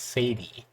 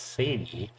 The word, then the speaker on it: Sadie: she looked familiar to him her name is Sadie and I was pronouncing nothing Sadi yesterday but her name is pronounced Sadie and his name is Eugene failure so he